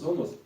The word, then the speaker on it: somos: somos, мы говорим somos, опять ударение смещаем, и tierra.